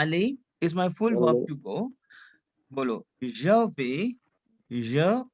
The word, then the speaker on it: vais: Je vais, Je vais. Je vais. tu vas. देखो यहाँ पे what we are doing over here, we are not pronounce S because S would be silent.